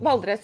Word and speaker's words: Valdres: I'm going to try and pronounce this right. Valdres Valley. Val, Valdres, yeah.